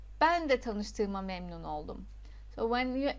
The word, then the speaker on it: Tanıştığıma: You remember that rule for reading soft G. Just read like as if it is not there. For details you can check this video here. Tanıştığıma memnun oldum.